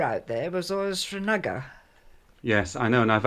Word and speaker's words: Srinagar: Srinagar, you didn't stop for a few minutes here and there.